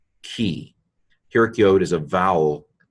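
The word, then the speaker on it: כִּי: So this is pronounced key.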